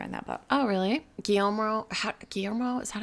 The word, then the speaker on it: Guillermo: Guillermo, is that how you say Guillermo del Toro?